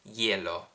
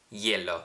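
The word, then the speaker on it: glielo: so or plus is yellow yellow think of like you're trying to say yellow but you're saying it with somewhat of an Italian accent y or Le plus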